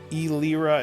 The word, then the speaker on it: Elira: It's Elira and Lyra. They sound similar, but yeah, there's a syllable missing from Well, it's one like of them.